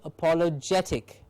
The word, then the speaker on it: apologetic: apologetic apologetic it says it says here it takes the primary accent on the syllable preceding the suffix i forgot to read that out uh accent on the syllable preceding the suffix so apologetic apologetic pathetic sympathetic terrific